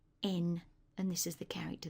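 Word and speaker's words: 円: currency yen in English but in Japanese it's pronounced n and this is the character that you use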